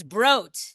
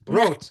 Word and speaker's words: Brot: Because it's Brot. Brot. Excuse me. It's okay. And I wanted to make t-shirts that said, you can get a brat at Brot.